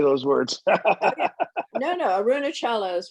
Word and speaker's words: Arunachala: ramana maharshi is an indian who is there arunachala and aruna yes exactly however you pronounce it have you been there i'm from boston so i don't know how to say those words no no arunachala is right and uh i was just i'm